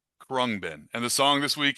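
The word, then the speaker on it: Khruangbin: K HR U A N G B I N Krungbin.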